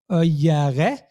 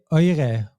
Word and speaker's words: eure: For the feminine and plural, we don't say euere, but we say eure. We cross out one letter E there because euere is just too inconvenient to pronounce.